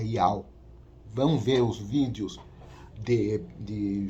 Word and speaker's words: Yahweh: quando eu falo Yehoshua, quando eu falo o nome do Criador como Yahuwah, esteja enganado, não é essa a pronúncia certa é Yahweh.